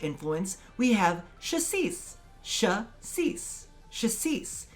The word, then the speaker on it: Chassis: Chassis. It's very similar to the French pronunciation of crème de cassis, however, this has an H, so it is chassis.